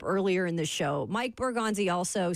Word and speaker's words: Borgonzi: So I think that's a great opportunity for, Brinker, Borzongi. Why am I saying his name wrong? I be doing that too. Bully, I be messing them up too. Borgonzi. Yeah, there you go.